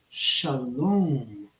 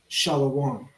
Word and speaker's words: shalom: be mean to people when I say to Israelites Shalom and not shalawam Shalom is peace shalawam is another language exactly that is not